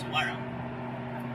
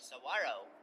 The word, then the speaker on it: Saguaro: And I do believe it's pronounced Saguaro. I used to say it wrong all the time.